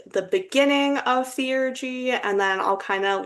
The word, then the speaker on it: theurgy: We are your hosts, El and Amaya, and today's episode will be about theurgy, which that is the way that it is apparently pronounced. I've also heard people call it theurgy, so take that with a grain of salt.